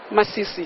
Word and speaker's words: Masisi: Masisi.